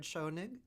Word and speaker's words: Schonig: I mean maybe I'm saying it wrong Jared shonig yeah well you're a smart smart woman that's